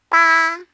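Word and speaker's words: 八: Ba. It sounds like the word bar without the R.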